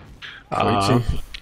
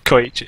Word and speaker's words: Koeitje: Because it's a Dutch name, I know exactly how to pronounce it, but I don't know how English people pronounce that, so it might be a little bit weird. Koeitje. Koeitje. Yeah, Koeitje. It's a little bit different in Dutch, obviously, but that's pretty much it.